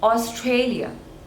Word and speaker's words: Australia: Mania Armenia next is Australia Australia again three syllables and stress is on the second one OS Trey Leo Australia